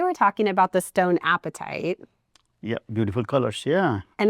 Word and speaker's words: apatite: So today we're talking about the stone appetite. Yeah. Beautiful colors. Yeah. And it's pronounced just appetite, right? Just appetite.